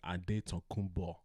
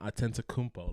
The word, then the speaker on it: Adetokounmpo: His last name is Adetokounmpo. It's not Atentacumpo like the Greek people tried to make it, because I guess it didn't have certain letters in their alphabet, whatever the fuck.